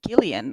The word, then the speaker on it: Gillian: It's Gileian although I just want to say Jillian but it's Gillian apparently.